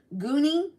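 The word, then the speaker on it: Guni: Natali, Jah, Jazil, Jazil, Gooni, that's funny. It should be spelled G O N I E, but it's spelled Gu U N I.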